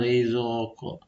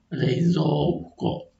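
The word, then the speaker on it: 冷蔵庫: Berikutnya contoh berikutnya reizoqo. Nah, kadang-kadang orang kita sering saya dengar dia bacanya rezoq rezqo bukan bukan seperti itu cara baca yang benar tapi yang benarnya reizoq itu yang benar.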